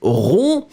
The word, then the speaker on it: rond: So look, in fact, yes, it's rendre rond. Or then feminine form would be ronde. D'accord? Remember, in that case, masculine final D is not pronounced.